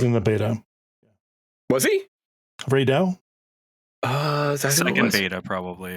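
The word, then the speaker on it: Rey Dau: It's Ray Dow.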